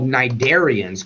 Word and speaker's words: cnidarian: Hydra are freshwater species, what we call cnidarians. Corals fit into that group as well. Cnidarians are jellyfish. Anything that has these stinging cells is known as a cnidarian. The C is silent.